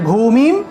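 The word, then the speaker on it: ভূমিং: অনুস্বার উচ্চারণ হলো মন একটা শব্দের শেষে যদি অনুস্বার থাকে সেটার উচ্চারণ হলো ম তাহলে ভূমিম সর্বতাহ সর্বতা এখানে একটি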